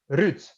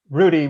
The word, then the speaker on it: Ruud: Ruud. Ruud. Oh, yeah. Okay. You gotta roll the R. Ruud. Ruud. But when I'm talking to English folk, Rudy will suffice.